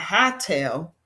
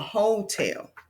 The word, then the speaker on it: hotel: We say huh, and when we get to that letter O, we say oh. Why? Because that's an open syllable. So we can't say huh, not hotel, but hotel. Okay, now we can read the word, which we read as hotel.